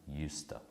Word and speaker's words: used to: play tennis every friday used to is pronounced usta so why do we